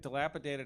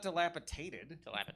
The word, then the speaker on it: dilapidated: Also, clearly it dilapidated has a D. Like it just does. Like it's not dilapitated.